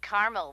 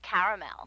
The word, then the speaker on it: caramel: I said Tina actually you said caramel when it's pronounced caramel can't we just call